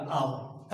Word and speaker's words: hour: उसी प्रकार से आप HOUR, है ना, H से उच्चारण यहाँ पर इंग्लिश में हो रहा है ना, इंग्लिश में कॉन्सोनेंट, लेकिन आप देखिएगा अगर हिंदी उच्चारण तो वॉवेल का आएगा, आवर, है ना। तो वॉवेल का जब आ रहा है तो आयन आवर होगा।